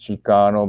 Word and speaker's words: Chicano: Forbes in his book Aztecas del Norte talks about Chicano is like kind of like a it's kind of like a it's pronounced Chicano, but it's kind of like a derivation of Mexicano and even the Nahuatl word Mexica, right?